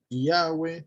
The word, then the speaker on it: Yahweh: El consenso al que más se ha llegado es que es Yahweh.